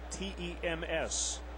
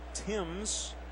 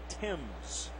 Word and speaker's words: Thames: end of his bat it is pronounced Thames tems we've heard Tim's but had a chance to hear it from him personally today Timms that's right when Griffiths